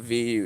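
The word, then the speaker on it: Vue: Saturn V. I think it's spelled VU E, but yeah, the V.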